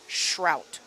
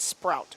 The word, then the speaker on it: Shrout: that's that's no bueno Amber says it's pronounced Shrout like Brussel Shrout right not Sprout Shout yep there's Hunter right